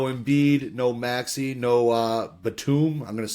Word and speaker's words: Batum: the Sixers no embiid no Maxi no uh Batum I'm going to say it wrong did I say it right right nailed Batum all right uh studing yeah been really brushing